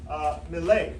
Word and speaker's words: Milei: Well, he's just interviewed Argentina's potential next president, Javier Milei, if I'm saying it correctly. Yes, Milei.